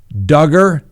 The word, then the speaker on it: Duggar: you know now remember josh duggar that's right rhymes with hugger he was released yesterday